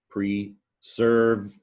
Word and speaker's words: preserving: The red is the stressed syllable, persevering, 4-syllable word, preserving. Now that S kind of sounds like a Z, doesn't it?